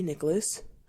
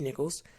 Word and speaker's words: Nichols: rest in peace Tyree Nicholas I think pronounce his name Nichols I'm sorry Tyree Nichols um and his family